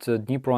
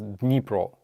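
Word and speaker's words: Dnipro: much uh please uh can you explain to people that nepro and Kon are pronounced with silent D and K oh so uh dabso in Ukraine is pronounced as dpro D turns into like this nasal sound a bit we don't say Theo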